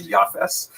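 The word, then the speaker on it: Japheth: In the Ashkanaz pronunciation that would be Yafes.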